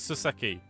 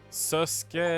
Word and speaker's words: Susato: And she just confirmed that that's how it's pronounced. Everyone else says Suseki. Ugh. Do I have to start freaking fixing myself into thinking it's Susuke again?